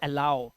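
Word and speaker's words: allow: वाओ और इसे एलो इसे अलो नहीं पढ़ते दोस्तों इसे पढ़ते हैं अलाउ यहां पर उच्चारण आऊ का आ रहा है तो कुछ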